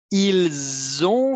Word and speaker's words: ils ont: Ils ont fait, ici je fais une liaison, c'est le son de l'abeille qui vole.